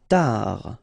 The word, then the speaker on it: tard: Tard. Final T not pronounced.